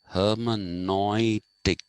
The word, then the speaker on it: hermeneutics: it comes into being now you'll find another pronunciation which is hermanoistic okay and this is a german pronunciation because you will see